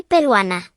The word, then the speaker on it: peruana: if male and Soy peruana. if female. There are no accents, so the stress naturally falls on the second to last syllable.